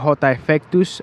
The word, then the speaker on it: Jota Effectus: So my name, I go by the name of Jota Effectus, and it's spelled by JOTAEFFECTUS, Jota Effectus.